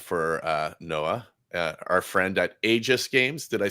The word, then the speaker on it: Aegis: Well, before we move on to the next guy, we might as well do a little ad for Noah, our friend at Aegis Games.